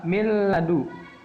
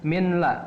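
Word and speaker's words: من لدنك: Nun mati bertemu dengan lam, maka dibacanya milladu. Milla, bukan minla, tapi milla.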